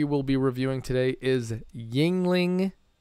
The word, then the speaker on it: Yuengling: about that as we go the brewery is Yuengling and son I had to look up the pronunciation of that to get it to get